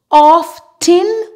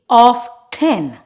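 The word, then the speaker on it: often: nle russle whistle wrestle normally when we have the ending f t n we don't pronounce the T it is fin for example saw fin off 10 or you can say off 10 now we will look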